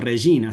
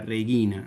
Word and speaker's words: regina: Nosotros decimos rellina, salve regina, nunca reguina, digamos, eh, porque eso